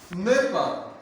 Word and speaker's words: NEPA: NEPA, oh NEPA. Some say you rhyme with leper.